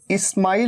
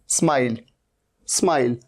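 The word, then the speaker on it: smile: स्माइल, स्टाइल, जैसे ये देखिए, इसे इस्माइल नहीं कहना है, इस्माइल। ये इस्माइल नहीं है, ये क्या है, स्माइल।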